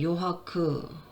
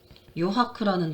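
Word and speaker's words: 余白: 그리고 이제 하크쇼, 그 다음에 요하크, 요하크라는 단어도 있죠. 여백이란 뜻이죠. 남을 여자입니다. 그걸 요라고 읽어요.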